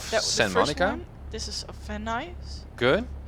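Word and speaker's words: Van Nuys: This is of van ice.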